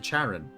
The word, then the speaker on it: Charon: the the name Karen is pronounced the same way as as the Karen of Greek mythology with the CH the Charon it's 100 she is